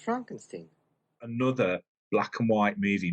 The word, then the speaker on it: Frankenstein: Brooks with Young Frankenstein it's pronounced Frankenstein another black and white